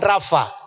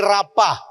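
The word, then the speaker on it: rapha: Nah, ini Raapa bacanya mesti Raapa bukan Rafa. Kalau bahasa Indonesia kayaknya tulisannya kayak gitu bisa dibaca Rafa itu.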